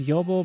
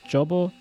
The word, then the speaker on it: Jobo: It's actually pronounced Jobo, but on internet it's Jobo, just in case.